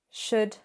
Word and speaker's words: should: Would, should, and could. No L, it's silent.